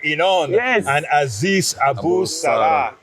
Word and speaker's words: Inon: Inon.